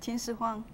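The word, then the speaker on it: 秦始皇: The movie Hero was made about him, Qin Shi Huang Ti, or how would you pronounce it? Qin Shi Huang.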